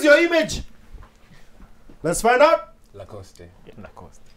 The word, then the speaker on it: Lacoste: image let's find out lacoste it's a clothing brand okay you agree it is true is it lacoste i want to assume that's the correct pronunciation yes it is a hundred points you